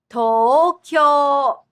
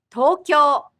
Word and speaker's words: Tokyo: Tokyo has 2 doubled vowel sounds, so it's a total of 4 syllables. The pronunciation of Tokyo is based on 2 Chinese characters meaning East Capital. Tokyo. Tokyo.